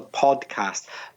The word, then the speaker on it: podcast: you're talking about the podcast, but be careful with your pronunciation of the word. It isn't an easy word to pronounce. If you mispronounce it, it can sound like postcard, postcard, which is tarjeta postal,